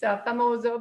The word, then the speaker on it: Famoso: I keep saying it wrong. It's Famoso before we go to another wine.